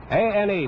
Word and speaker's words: Ane: A-N-E, pronounces his name Ane, from Honolulu.